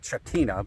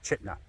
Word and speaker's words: Chitina: I know it looks like Chhatina, but it's pronounced Chitna.